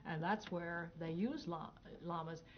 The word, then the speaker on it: llama: If you want to really say it the Spanish way, you say llama, right, Brent? Mm-hmm. Llama. When you have two L's, that means say it like a Y, llama. But if you're saying it the English way, you can say llama.